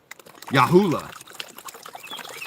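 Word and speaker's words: Yahoola: It's spelled just like Yahoo, L-A. Yahula.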